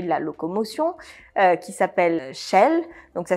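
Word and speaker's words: Shail: sur le sujet de la locomotion, qui s'appelle Shell. Donc ça s'écrit S-H-A-I-L, qui est une application qui va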